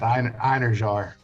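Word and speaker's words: Einherjar: of a different language, Inheriar, I couldn't remember how to do it. And then when I got past the fact that it begins with an E, it's literally spelled like in her jar.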